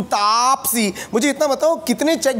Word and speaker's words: Taapsee: So finally now, people pronounce it properly. Tapasi, tu Tapsi.